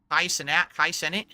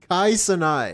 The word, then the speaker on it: Kai Cenat: Kai Cenat? How do you say his name? Wait, say it again. Cenai? Kai Cenai.